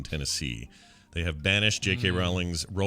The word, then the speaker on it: Rowling: Rowling's. I heard it was Rowling and not Rowling. We've been saying it wrong. Yeah, it's J.K. Rowling.